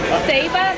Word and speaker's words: Saba: Nick Zachar, thanks for bringing your film, Saba, the Unspoiled Queen. Did I pronounce it right?